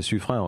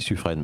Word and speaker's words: Suffren: Vous prononcez Suffren, je ne sais pas, moi j'aurais dit Suffren, mais bon. Officiellement, c'est la prononciation à retenir.